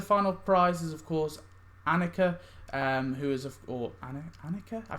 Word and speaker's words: Annika: think i called it anakia at first but that's not how you say it i think it's annika but annika of course